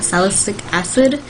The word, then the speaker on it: salicylic acid: has salicylic acid, that's how you say it, salicylic acid, I would use that, or any acne treatment